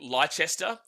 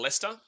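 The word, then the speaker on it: Leicester: differently but then again most people say like Lester instead of leester is it wer is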